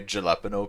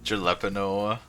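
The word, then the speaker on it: jalapeño: Jalapeno sounds like an H. Well, why wouldn't they just use an H then? Clearly it's meant to be pronounced jalapeno.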